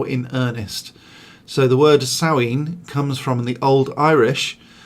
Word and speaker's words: Samhain: and me but it's also a saueen so samhain is how it's written s-a-m-h-a-i-n uh it's pronounced sowing